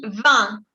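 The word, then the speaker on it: vingt: En el 20 la G era muda. La G no se pronuncia de 20. Tu dis 20. Se pronuncia la T, pero no la G.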